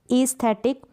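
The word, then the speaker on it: aesthetic: अगर दो वोवल्स है, ए और ई साथ में आ जाए तो हम इन दोनों को क्या पढ़ेंगे, कंबाइंड वोवल्स को बड़ी ई के रूप में आप प्रोनाउंस करेंगे।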